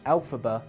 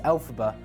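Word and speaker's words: Elphaba: End for 18 years the name of the wicked witch alphaba was created by taking the phonetic pronunciation of the original Wizard of was author L frank bal's initials lfb which became l ala Cynthia Aro who plays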